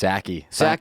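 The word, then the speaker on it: Psaki: house press secretary jin how do you say her last name i thought it was just sacky silent p and national security it's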